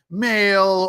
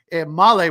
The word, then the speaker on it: Malle: I said male or uh something else. Malle was fantastic.